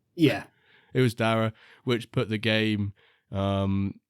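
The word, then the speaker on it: Darragh: is it was darra right David it was darra yeah it was darra which put the game um which post me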